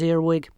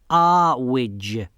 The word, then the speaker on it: Earwig: Well, I've come to see Ana Grammar, Mrs. Earwig. It's pronounced Awig.